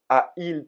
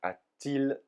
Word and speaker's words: a-t-il: le pronom sujet et qu'on rajoute un T en entre deux tirés pour faciliter la prononciation quand deux voyelles se suivent he on ne dit pas a il téléphoné mais a-t-il téléphoné donc ce t il est écrit mais il est là uniquement pour la prononciation et le trème cas